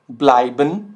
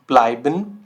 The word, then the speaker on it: bleiben: ठीक है, बट ये साउंड क्या कर रहा है, आई अल्फ़ाबेट की तरह, आई ऑफ इंग्लिश।